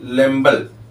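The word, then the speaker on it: Lambl: लेम्बल नामक साइंटिस्ट, इन्हें हिंदी में अगर लिखें इन्हें ऐसे लिखते हैं, लेम्बल। ठीक, लेकिन अब इनको इंग्लिश में दिया जाता है तो सब बी को साइलेंट कर देते हैं, लेम्बल कहते हैं।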